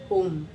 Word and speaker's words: Om: It is with 3 letters, A, O, M, but when we pronounce it, it is Eka Aksharam only.